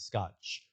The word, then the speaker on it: Scott: Yeah, cuz the cuz my first name pronounced in Portuguese in Brazil is Scotch. They don't have a T at the end.